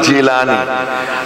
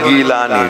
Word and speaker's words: জিলানি: মিস্ত্রিরা জিমের উচ্চারণটা গাইনের উচ্চারণ দিয়ে করে। বড় পীর আব্দুল কাদির জিলানি আর মিস্ত্রিরা তারা কি বলেন? গিলানি।